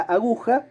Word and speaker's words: aguja: Gu es la sílaba tónica. Porque si no, si la sílaba tónica fuera la primera, la palabra sonaría aguja. Y si la sílaba tónica fuera la tercera, la última, la palabra sonaría aguja. Pero la palabra suena, el sustantivo, suena aguja. Por lo tanto, la sílaba tónica es la del medio, es gu.